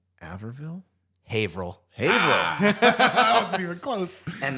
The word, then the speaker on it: Haverhill: Haverville. Averville. Haverville? Haverhill.